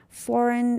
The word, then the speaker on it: foreign: Foreign, again, G is silent.